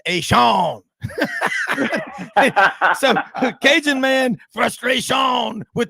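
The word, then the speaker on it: Etienne: tanner smith he says it isn't travis a ten it's travis ay shawn so cajun man frustration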